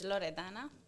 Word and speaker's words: Loredana: fun stuff after that my name is loredana this is how you pronounce it or short version Lori